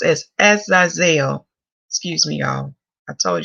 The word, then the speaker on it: Azazel: So it's pronounced as Azazel.